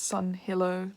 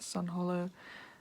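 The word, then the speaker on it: Sunhillow: wrong on that album it's sun hilo not sun hollow um just before people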